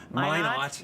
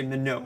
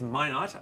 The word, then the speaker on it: Minot: Minot. You got it. Because I want to say Minot, and Yeah. it's not. It's Minot, and that's so that we're looking at fairly high up in the storm.